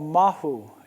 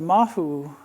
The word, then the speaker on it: mahu: And these are called mahu, M-A-H-U, or M-A-H-O-O, depending on the pronunciation.